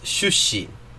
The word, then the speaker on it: 출신: 출신 is shushin. It's the same word, the same Chinese word, but pronounced differently. Because that tsu on the end of shutsu, in Korean often turns into an L sound.